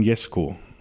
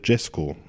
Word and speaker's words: Jesko: Und dann haben meine Eltern aber herausgefunden, dass es auch die Aussprachevariante Jesko gibt. Ich war gerade nämlich kurz vor welcher gedacht, heißt du jetzt Jesko? Nein, nein, ich sagte die ganze Zeit Jesko. Es wird aber genau gleich geschrieben.